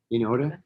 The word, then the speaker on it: iota: Pit, I as in pit, or I as in magazine.